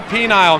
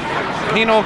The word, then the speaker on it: penal: Well, I mean, there are a penile colony. Did I pronounce that right? Penile? Penal colony.